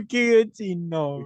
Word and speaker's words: Giacchino: Michael Yeah, Giacchino. Michael Giacchino.